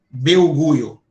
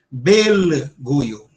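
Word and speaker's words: Belgio: Você não transforma o L em em I, em U, beuo, como a gente fala papel, certo? O L sempre tem o som de L.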